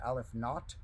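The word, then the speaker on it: aleph-naught: one called Aleph Zero, or sometimes that in math is pronounced Aleph Not, but Aleph and then the number 0.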